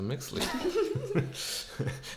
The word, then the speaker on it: Mixtli: yeah, I was like, what the fuck is a Mixley? Am I saying it right?